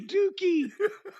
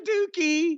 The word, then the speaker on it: Douki: It's gotta be Dookie. Doesn't it have to be Dookie? There's Dookie. Listen, Douki. How do you pronounce it? D-O-U, that's Dookie.